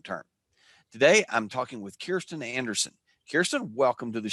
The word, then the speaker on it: Kirsten: a wonderful pronunciation of kirsten uh which i always tell people rhymes with cheer uh which is associated